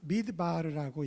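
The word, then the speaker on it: מדבר: 위에 거는 어떻게 읽냐면 미드바르라고 읽어요. 미드바르.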